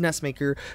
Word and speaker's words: NESMaker: I Just Got NESMaker Or NESMaker It's Actually Pronounced NESMaker But Anyway I Just Got It I Just